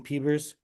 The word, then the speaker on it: PBERs: uh can we just pronounce some pebbers like like Bieber I love it.